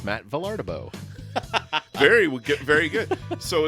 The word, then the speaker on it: Vilardebo: go oh it's Matt vardo very very good so it's like I always tell people it's pronounced just like it's spelled yeah yeah uh and